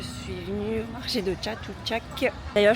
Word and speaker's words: Chatuchak: venue au marché de Chatou Chac d'ailleurs je crois pas du tout que ça se prononce comme ça je crois que c'est un J jatou Jack un truc comme ça mais bref la première